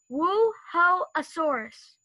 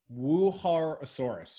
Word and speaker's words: Wuerhosaurus: I don't know the answer to the second question, but the first, the name, you pronounce it Wuerhosaurus. Wuerhosaurus.